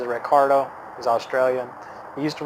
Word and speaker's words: Ricciardo: of also Daniel Ricciardo his name is Richie Rich yard oh but pronounces Ricardo is Australian he used